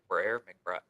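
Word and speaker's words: McBrayer: Is it Briar or Brayer? McBriar.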